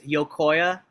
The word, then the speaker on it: Yocoya: It's YOCOYA. Um, it's an old Nahuatl word.